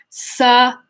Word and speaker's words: southern: It's the sow part of it changes to sa. So now it's not southern, it's southern. So now we're going to put the TH into the second syllable again. Southern, southern, southern, southern, southern, southern, southern, southern.